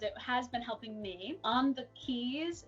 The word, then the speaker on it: On the Quays: On the keys, it's spelled like on the QUAYS.